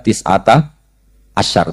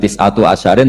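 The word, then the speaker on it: تسعة عشر: Terus di beber di surat muddir alaiha tisata asyar tetap baca. Padahal itu jadi mubtada muakhar aliha iku tetep ing atase neroko tisata asyaro utawi 19. Tetap bacanya bukan tisatu asyarin tapi tisata asyar.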